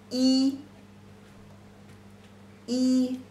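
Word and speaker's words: 一: one stroke represents one this is one the pronunciation is e e very simple and number two this is one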